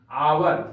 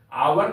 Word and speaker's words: hour: एच यहां पर silent है, इसलिए यहां पर एन का प्रयोग होगा। एन आवर, HOUR, आवर का अर्थ होता है घंटा, एन आवर।